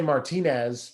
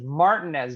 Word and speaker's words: Martinez: i want to say martinez but it's probably not martinez georgia no but at least concacaf you can pronounce it phonetically that is well spelt martinez that is martin as georgia which is actually kind